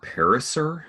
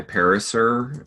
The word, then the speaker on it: Pariser: pronounce his last name I've heard it pronounced para sir some Eli Pariser and the TED talk